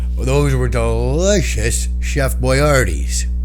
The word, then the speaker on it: Boyardee: Well, those were delicious Chef Boyardee's. People like to pronounce it and put the emphasis on the wrong syllable. I say Chef Boyardee.